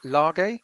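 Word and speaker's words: Lage: about la uh uh how do you pronounce it is it large large yeah that was about like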